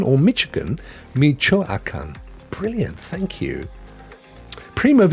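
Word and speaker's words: Michoacán: um my home state this is primo is pronounced so not not Michigan or Michigan Michoacan brilliant thank you Primo have you ever done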